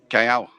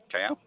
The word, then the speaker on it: Callao: Callao. Callao. With a little Oh, it's double L. Callao. Of Two course it Ls, is. isn't Callao. Callao.